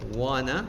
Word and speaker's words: wanna: So instead of need to you're going to say need similar to instead of one to we use wana.